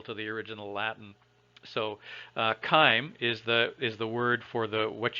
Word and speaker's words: chyme: Remember that in biology, a lot of the biology words came from Latin root words, and the Romans didn't have a soft C. They didn't use the sound ch. Everything was ka.